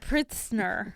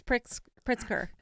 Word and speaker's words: Pritzker: Because I thought it said Pritzner, but it's Pritzker.